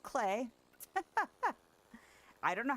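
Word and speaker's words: Klee: And so for a long time I was like, "Oh, it's Cle." No, it's pronounced Clay.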